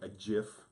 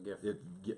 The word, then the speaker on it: GIF: There'll be a little gif, as it's properly pronounced there. Is it really? Yeah, it's gif. It's not gif. It's actually, both are acceptable, but the guy who invented it, he's like, no, it's gif.